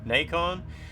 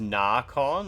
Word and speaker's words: Nacon: So the guy from Nacon, he's like, actually it's pronounced Narcon. And I'm like, oh, it's Narcon? That's so weird. And then he said, yeah, like bacon.